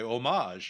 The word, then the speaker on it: homage: both equally good or no omage is not a word so no it's just omage it's not a different pronunciation people started pronouncing it because they they're like thinking it's a French word and so that's they think that's how it should be pronounced and so some I don't know person along the line decided that they should say homage you know I don't